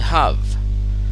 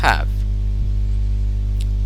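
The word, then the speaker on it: have: অংশে এই হ্যাভের উচ্চারণ যখন আমরা হ্যাভকে উইক ভার্ব রূপে ব্যবহার করব, এর উচ্চারণটা হচ্ছে হাভ, হাভ। যখন এটিকে স্ট্রং ভার্ব রূপে উচ্চারণ করব তখন এর উচ্চারণ হচ্ছে হ্যাভ।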